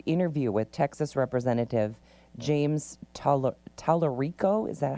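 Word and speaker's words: Talarico: All right, CBS contradicted Stephen Colbert's on-air statements regarding a canceled interview with Texas Representative James Tallarico. Is that how you say his name? Tallarico, yeah.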